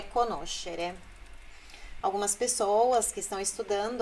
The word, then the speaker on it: conoscere: É a sílaba anterior a esse final, xerê. Ó, conoscere é o no, nascere, crescere. Não é conoscere, nascere e crescere.